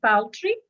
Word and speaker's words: paltry: look at the word there paltry or we pronounce it as like poultry poultry is something that you